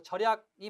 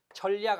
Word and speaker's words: 절약: 절약은 니은을 이걸 연음시켜서 절약으로 발음하지 니은을 첨가시켜 발음하지 않아요. 그래서 절약이 맞고 전략 아닙니다.